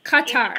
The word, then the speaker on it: Qatar: Is it Qatar or is it Qatar? No, Qatar. Qatar. Qatar. Oh, okay, Qatar. Okay.